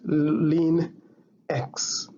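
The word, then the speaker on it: ln x: written as lean x that is l and x this one is pronounced as lean x to be able to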